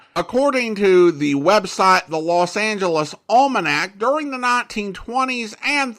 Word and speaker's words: Los Angeles: radio announcers and journalists they agreed to the angelized version Los Angeles there you go that's